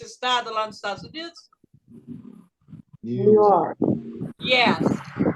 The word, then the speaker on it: New York: Fala New York, como se tivesse só um U.